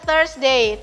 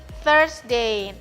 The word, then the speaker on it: Thursday: Tapi bacanya tius Day kemudian kamis Dia first day th bukan Toya tapi first day kemudian Jumat dia bahasa